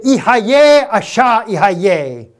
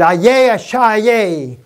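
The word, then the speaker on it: אהיה אשר אהיה: When he spoke to Moses and he spoke to Abraham, according to the Syrian gospel, he said, Ihayeh Asha Ihayeh. You could pronounce it, Ayeh Asha Ayeh.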